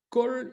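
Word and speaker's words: כל: Par exemple, tout Israël sera sauvé, on va dire Kol Israël. Eh bien, le O, en fait, c'est un A. On écrit un A, mais on sait qu'on prononce O, quoi.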